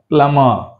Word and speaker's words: plumber: subtle అనాలి సప్టిల్ అనకూడదు subtle subtle subtle right ప్లమర్ నాట్ ద ప్లంబర్ ప్లమర్ ప్లమర్ ఓం ఓం నాట్ ఓం క్రం క్రం సం